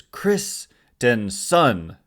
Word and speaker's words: Christenson: to get into so kristenson it's the way they the way the Giants say it's pronounced is Christenson which is I I